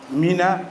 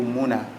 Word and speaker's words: Mina: Et c'est pour cela que les savants nous disent que c'est pour ça qu'on a appelé Mina ou Mouna. Les deux prononciations sont bonnes. Mina ou Mouna.